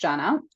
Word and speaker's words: Zana: Instagram Janna hospitality and my name is spelled z n a um but pronounced Janna um yeah or they